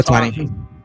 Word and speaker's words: Ohtani: How do you pronounce the guy's names? Osani or Hani? Shohei Ohtani.